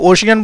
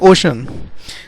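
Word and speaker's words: ocean: कुछ लोग इसको ओशियन बोलते हैं, इसका करेक्ट प्रोनाउंसिएशन है ओशन। तो वो इतना रोई इसने कि रो के उसके आंसुओं से समुद्र भर गया पूरा।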